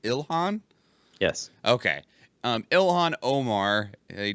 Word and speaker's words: Ilhan: I know her last name is Omar, but is her first name pronounced Ilhan?